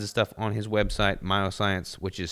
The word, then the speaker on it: Myoxcience: But he's got all kinds of stuff on his website, Myoscience, which is spelled MYOXCIENCE.